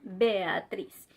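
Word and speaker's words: Beatriz: Mais par exemple, si on a deux voyelles fortes, on ne va jamais les prononcer ensemble. Par exemple, dans le mot aéreo et dans le prénom Béatrice. Il faut le prononcer séparément parce que ce sont des voyelles fortes.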